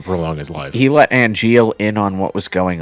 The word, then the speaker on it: Angeal: And then Wait, all is of this name Angeal like Angel? Yeah.